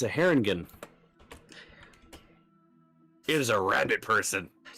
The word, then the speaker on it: Harengon: Let's see if I pronounce the racist name right. It's a Haringen. It is a rabbit person. How? Harengon.